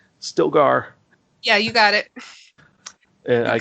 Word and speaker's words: Stilgar: the Fremen, when he meets I want to pronounce it right, Stilgar.